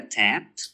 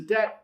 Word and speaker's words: tet: Is that a tat? That is a tet.